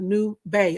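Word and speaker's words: Nubay: them in the chat but let's talk about new bay okay and it's spelled n u b a y okay new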